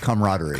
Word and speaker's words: camaraderie: It's camaraderie.